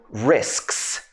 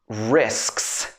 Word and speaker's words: risks: So we're talking about 3 sounds together, like sks, sks.